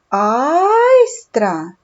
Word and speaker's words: айстра: голосних звуки айстра це айстра наголос падає на перший склад на звук а отже запишемо в слові